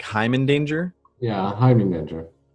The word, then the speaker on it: Heimindanger: Is it like Hyman Danger? Yeah, I'm Danger. Hyman Danger. Okay, because I've heard people pronounce it a bunch of different ways, but